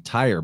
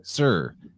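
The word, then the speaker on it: Tyre: for a time was the city sir which is spelled for some reason in English t-y-r-e so most people are saying tire but it's sir so that's Rock that's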